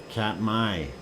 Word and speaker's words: Katmai: Why do they spell it May if it's my?